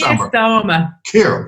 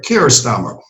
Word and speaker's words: Keir Starmer: Is that how you pronounce it? Keir Starmer. Keir Starmer.